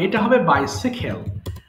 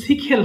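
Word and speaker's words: bicycle: ওকে আপু জানেন অবশ্যই বলেন তো দেখি সাইকেলের উচ্চারণটা কি হতে পারে বাইসাইকেল কেউ কি জানেন বাইসাইকেল আচ্ছা আপু এটা হবে বাইসাইকেল হ্যাঁ এটা কিন্তু সিকিকেল হবে আমরা বাইসাইকেল বলি এটা হবে বাইসাইকেল ওকে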